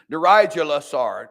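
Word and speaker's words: Neriglissar: Nerijalasar, that's how this is pronounced.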